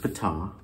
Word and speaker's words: Ptah: I'm pretty sure it's pronounced Ptah, and that is like the ancient Egyptian god that created the universe.